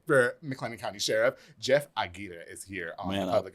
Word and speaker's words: Aguirre: I heard the last interview say his name is like, come on, Aguirre. Aguirre. You got to roll them.